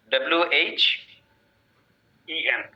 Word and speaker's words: When: WH EN. When? উচ্চারণটা হচ্ছে ওয়েন, এইচটা বাদ যাবে, তাই না?